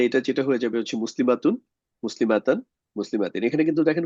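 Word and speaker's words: مسلمة: মুসলিমাতান আর sorry নাস ফর্মের জন্য হয়ে যাবে মুসলিমাতান আর জার ফর্মের জন্য হয়ে যাবে মুসলিমাতি আর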